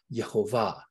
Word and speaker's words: Yehovah: example, if you'll notice, you often use the consonantal pronunciation, Yehovah, okay? But the priestly pronunciation was a vowel intonation, Yahweh. And people want to fight, but actually both were correct.